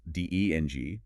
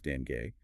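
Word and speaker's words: dengue: Okay, it should be pronounced d e n g or sometimes dan gay with the stress on the first syllable. You have to avoid the hard g sound you might expect in English.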